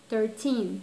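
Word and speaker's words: thirteen: Yes, the stressed syllable, teen. 13.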